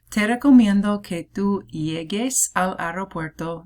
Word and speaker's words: llegues: It's one of those spell change ones because otherwise it'd be pronounced llegues. It's not what it is. It's llegues. So the G turns into a GU actually.